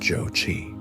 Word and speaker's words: Jochi: soon after her rescue to a son named Yoshi, pronounced Jochi.